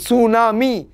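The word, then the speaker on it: tsunami: এর উচ্চারণ করে না জাপানিজরা টি এর উচ্চারণ করে না যেমন সুনামি টি এর উচ্চারণ কিন্তু করে না এটা কিন্তু মাথায় রাখবে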